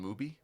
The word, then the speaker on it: Mubi: It took me literally until we had the episode where I said Mubai to realize that it is a play on the word movie. Mubi.